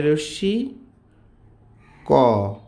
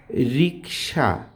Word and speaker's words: রিক্সা: এখনো রয় রশি ক রিক এরপরে স আকার রিক্সা এটা উচ্চারণ করতে যেয়ে বলে কি জানেন?